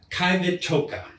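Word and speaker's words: Qivittoq: language it's still the Q but apparently it's pronounced so KET TOA so this pertains more to multiple beings rather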